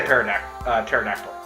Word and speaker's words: pterodactyl: So I'm going to say pterodactyl. Pterodactyl. P is silent.